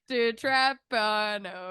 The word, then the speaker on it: DiTrapano: DiTrapano DiTrapano, Foundation.